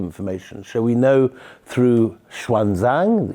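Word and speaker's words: Xuanzang: so we know through Schwan Zang who used to be pronounced in in Hindi yeah obvious so the right is shanong the Chinese say shanang shanang Okay um and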